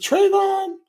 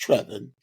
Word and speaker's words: Trevon: saw trevin's name I said okay is it trayon because that's what it looked like but his name is pronounced trevan um Trev and Tyler um and this is